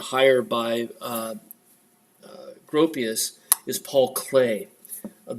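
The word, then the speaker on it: Klee: by Gropius is Paul clay of the EE is pronounced a not e right Paul clay it's a Swiss artist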